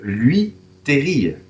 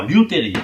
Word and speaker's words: liuterie: Ça se dit lui, Terry. Non, liuterie.